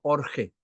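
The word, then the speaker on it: ὀργή: ese enfado la ira del griego orge orge así como suena orge ira es igual a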